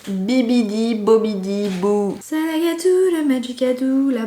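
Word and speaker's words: Bibbidi-Bobbidi-Boo: Maren la fait dans Cendrillon attention à la prononciation Bibidi bobidi BO Salou le magicadeou la B bi biidi bobidiou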